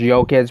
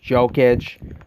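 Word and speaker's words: Jokić: came into the league, a lot of people pronounce it Nikola Jokic. And I think that's where his nickname came from. His last name, Jokic. It's supposed to be pronounced Jokic, but Americans pronounce it Jokic.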